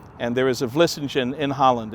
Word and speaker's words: Vlissingen: It comes from the word Vlissingen, and there is a Vlissingen in Holland.